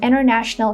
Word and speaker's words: international: There are many advantages to working in an international company. So here, instead of saying advantages and international, I'm just saying advantages and international. Advantages, international.